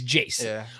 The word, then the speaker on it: iayze: features on like this new one with with Jace right that's how you pronounce it I always see I always when